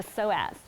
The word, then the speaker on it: psoas: Yeah, the psoas. Psoas. It's spelled P-S-O-A-S.